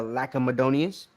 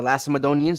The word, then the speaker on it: Lacedaemonians: Which is how they became the Lacedaemonians, or Lacedaemonians. You got, which is really how you pronounce it, Lace, because the C is an S sound in Greek.